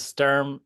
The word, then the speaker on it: Stirm: yeah thanks for having me is uh is Sturm the correct pronunciation for your last name or you got